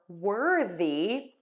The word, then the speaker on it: worthy: sound worth worth worth now for Worthy we're going to have a slight syllable break between the were and then the the th here is voiced that's the difference that's